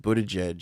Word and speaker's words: Buttigieg: Basically, they got the Kamala Harris camp got all pissy because when the media attacked Buttigieg for taking... Here we go with this fucking pronunciation.